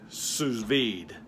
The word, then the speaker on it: sous vide: Apparently it's a French style of cooking, and they pronounce it sous vide.